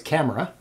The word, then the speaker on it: Camara: So it's Camara. Leandro Camara. Camara.